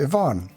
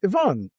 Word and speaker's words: Ivan: In this podcast, we're talking to Ivan. It's Ivan, right? Not Ivan. Yes, Ivan.